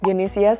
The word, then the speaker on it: Gesia: what's your real name gesia that's how I would pronounce it in Indonesian it's my real name